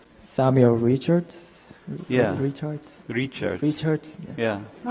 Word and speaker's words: Richards: Bro, you pronounce my name. Samuel Richards?